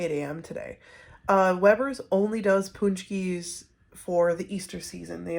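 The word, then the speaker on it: pączki: a punch he is here's how to spell punch key that's fun it doesn't look like once you get all the look like looks like pack ski but it's called it's pronounced punch me do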